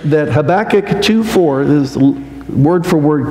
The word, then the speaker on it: Habakkuk: sometimes hear people say habac or they say something else you know it's kind of hard to pronounce but when you say the title of this book think of your back habac that that's how